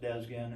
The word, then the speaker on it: Desguin: one side of the family and we do pronounce it desgen and people i'll never forget i had a